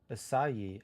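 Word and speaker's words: açaí: Oh yeah, it's pronounced as acai, S-I-E.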